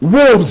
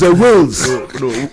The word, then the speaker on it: Wales: How you pronounce it? Wolves. Wales. Wolves. Is a Wales.